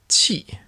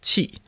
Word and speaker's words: 氣: Cloud vapor is read as qi, while presenting food is pronounced xi.